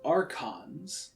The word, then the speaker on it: archons: see you guys in a second so it's pronounced archons that is the least of my worries right